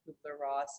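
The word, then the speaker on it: Kübler-Ross: life care expert, but also works with Elisabeth Kubler-Ross Foundation.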